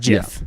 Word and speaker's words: GIF: butter does exist so so it's pronounced jiff exactly and even if you